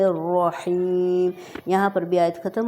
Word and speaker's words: الرحمن: ایک بار پھر دیکھیں، را ہیں دو، رحمان میں اور رحیم میں، دونوں کو بولڈ پڑھا جائے گا، بسم اللہ الرحمن الرحیم۔